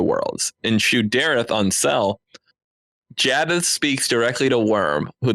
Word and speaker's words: Jaddeth: And then an unBrandon-like characteristic goes, it's pronounced Jaddeth, by the way.